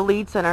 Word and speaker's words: Lied Center: There's the Lead Center, as I said, pronounced Lied, or spelled as Lied Center, which Richard Chase had